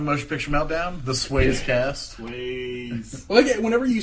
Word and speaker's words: Swayze: Because the E should be silent in this, I think.